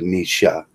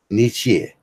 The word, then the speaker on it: Nietzsche: take little bits of nisha Nietzsche Nietzsche that's how you'd have to pronounce it someone - I argued